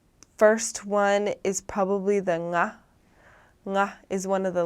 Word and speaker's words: ng: So the best way that I can describe it is when you say the word sing, you just use that last sound and sing, and then that becomes the nga. That's the nga sound.